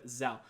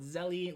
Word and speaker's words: Zelle: and get started with zel now in that video I do excellently call it Zelly which is definitely not the right way to pronounce it but either way you're